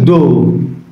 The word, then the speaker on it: doe: উচ্চারণ কিন্তু ডো, উচ্চারণটা খেয়াল রেখেন, ডো ডো।